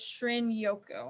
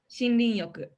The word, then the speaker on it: Shinrin-yoku: in the 80s, and it's also known as Shin-yoku. And I believe I'm pronouncing that correctly. What was it, Amy? Shinrin-yoku. Yes. Emi is Japanese, and so I trust her with this.